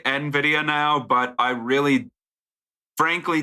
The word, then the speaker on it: NVIDIA: I know NVIDIA is the proper pronunciation of that company's name, but when I read it, I was like, oh, that's Nuh-Vidy-Uh.